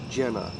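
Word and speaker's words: Gena: Gina, Jenna. Is it Gina or Jenna? G-E-N-A. So both are accurate.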